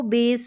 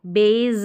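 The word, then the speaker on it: base: बेस नहीं पढ़ते हैं यहां पर इसको बेस पढ़ेंगे यहां पर यह एक्सेप्शन है इसको बेज नहीं पढ़ते बेस पढ़ते हैं बे और स यानी एस का उच्चारण स रहता है ये एक्सेप्शन है मतलब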